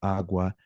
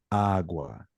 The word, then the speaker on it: agua: The reason why is it only has to work if the word is feminine, like agua, with the sound of your voice raising on the very first syllable, like agua.